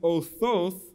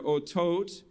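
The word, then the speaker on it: אותות: Signs, othoth in Hebrew, or otot in the modern pronunciation, those are heavenly convergences that the ancient Israelites looked for to mark the liturgical seasons.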